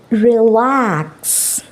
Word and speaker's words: relax: Next 2 syllable வேர்ட்ஸில் second சிலபலுக்கு stress கொடுக்க வேண்டிய words காமனாக வேர்ப்ஸ். ஓகே, அதிகமான வேர்ப்ஸுக்கு தான் நாங்கள் இந்த மாதிரி செகண்ட் சிலபலுக்கு ஸ்ட்ரெஸ் கொடுத்து பேசணும். Now let's see some words. Relax.